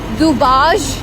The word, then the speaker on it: Dubazh: Okay, we are crossing this beautiful bridge, इसको दुबाज bridge कहते हैं। DUBAZH इसके ZH एक्चुअली इसके स्पेलिंग है।